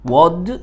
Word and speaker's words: would: انا جاي بصبوره علشان would you like، would w o u l d، ال كتبناها وما قلناهاش ما نطقناهاش.